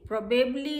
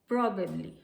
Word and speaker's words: probably: प्रोबेबली इज the wrong pronunciation. This is प्रोबेबली. Probably. The right pronunciation is probably.